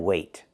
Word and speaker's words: weigh: two words, weigh and weight. The first word is weigh. Use a long A like day and say, weigh.